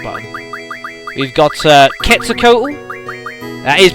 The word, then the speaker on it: Quetzalcoatl: We've got Quetzalcoatl. That is pronounced that way, Quetzalcoatl.